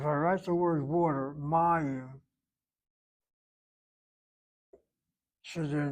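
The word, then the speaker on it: מים: The reason why we don't hit the last syllable is because this patak seems to be properly written on the board, short vowel, open, open, open syllable, and therefore needs the accent. Mayim. If I spell that word with a dagesh in that yud, then it's a closed syllable, and I don't have to accent that first syllable, but I am accenting it.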